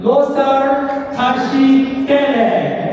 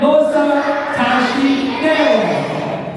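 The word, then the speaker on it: Losar Tashi Delek: Losar Tashi Dele. Say it again. Losar Tashi Dele.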